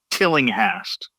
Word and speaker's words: Tillinghast: How do you pronounce it? A.W. Tillinghast. Tillinghast.